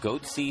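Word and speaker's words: Goatse: getting the goatsy picture they're called goatsy security is that my pronouncing that correctly yeah that's right we're analyzing coverage from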